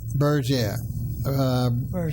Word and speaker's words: Berger: of the show that although his name is spelled something like the way I mispronounced it, he's from another area, not too far away, and that's the obviously the vernacular and the pronunciation.